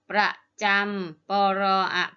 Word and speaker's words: ประจำ: ชุม ประชุม ประจำ ประจอ ำ จำ ประจำ ประเทศ ปอ อะไร อะ ทอ ลล์ ศ.